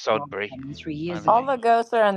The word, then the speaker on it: Sudbury: it's liketh of michig son William moved it's pronounced sodbury all the ghosts are on the east coast